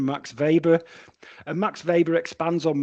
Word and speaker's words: Weber: to it by uh Max Vber or as we used to say when I was studying Weber so I have to pull up my uh student sometimes and call him by the German pronunciation Max Vber and Max Vber expands